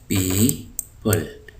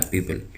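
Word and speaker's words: people: तो ये वही है पीपल तो इसको प्यूप नहीं पढ़ेंगे हम ये ओ को देख के बाज लोग इसको पपल पढ़ते हैं तो यह है पीपल तो वोकैबुलरी पीपल वोकैबुलरी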